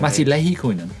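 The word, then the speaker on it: Matti Lehikoinen: - Mattil Ehikoinen - Mattil Ehikoinen, I've never been able to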